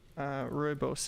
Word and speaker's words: Rooibos: It's Bergamo Rose tea, and it smells pretty interesting, and it seems to have rooibos in it, so it's gonna have an interesting flavor, I'm sure.